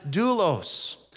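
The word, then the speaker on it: δοῦλος: in the Greek language this is a word that we would phonetically pronounce in English as doulos so James doesn't open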